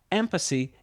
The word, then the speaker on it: ampersy: Though I've never heard it myself, according to my research, ampersy is still used today in some regions of the UK as a variant pronunciation of ampersand.